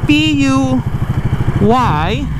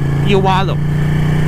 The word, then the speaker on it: Puyallup: And it's not even pronounced as how it's spelled. So it's P-U Y-A-L-L-U-P. And you're supposed to say Puyallup. Puyallup, like there's a freaking W in there or something.